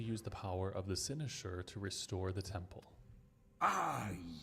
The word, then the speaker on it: Cynosure: Okay, it is pronounced Cynosure.